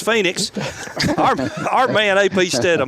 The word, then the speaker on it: Phoenix: the SEC joining us right now live from ponix Arizona that's how you that's how you physically pronounce it but it's Phoenix our man AP stum how you doing brother